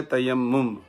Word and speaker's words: تیمم: سمجھنے والے بھی ہیں۔ جو صحیح تلفظ اس کا وہ ہے تیمم۔ اس کا مسئلہ اللہ